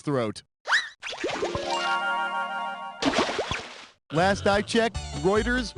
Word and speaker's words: Reuters: throat last i checked reuters rhymes with goiters what do you want